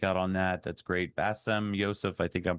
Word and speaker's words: Bassem Youssef: Bassem Youssef, I think I'm pronouncing that correctly. Youssef, yeah.